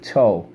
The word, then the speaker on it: toe: T-O, silent E, toe. T-O, silent E, toe.